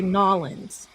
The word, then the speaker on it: New Orleans: Wherever when you're there in that beautiful historic city, the locals say Norins. You have it correct. New Orleans.